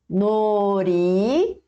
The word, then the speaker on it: 놀이공원: 놀이공원. 놀이공원. Professora, aqui não tem dir batim, não? Por que você não pronunciou com som de L, de lata?